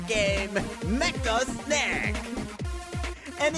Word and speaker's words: Snek: their said game, Mecha Snack. And it's really called SNEK, just in case somebody thinks I said it wrong.